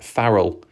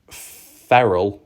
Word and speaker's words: Farrell: Bob Farrell. I used to call Bob feral like a feral animal because I thought that's how it was spelled, but I realised that was wrong.